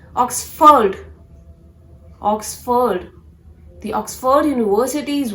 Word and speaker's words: Oxford: No, it's not Oxford. It is to be pronounced as Oxford.